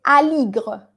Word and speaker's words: Aligre: Porque esta E, recuerden que cuando la E no está tildada, ella no suena como la E del español. Sobre todo al final, Aligre, se dice Aligre.